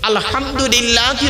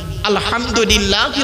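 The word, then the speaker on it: الحمد لله: আলহামদুলিল্লাহি রাব্বিল আলামিন। আলহামদুলিল্লাহি রাব্বিল আলামিন। এ গলার ভেতর থেকে উচ্চারণ করবেন।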